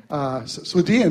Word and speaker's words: Swedien: I can hardly pronounce that right. I can never say his last name. Swedien, there we go.